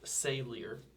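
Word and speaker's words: Saelyr: you spell that again s a e l yr pronounced sor MH 12 Day cycle 12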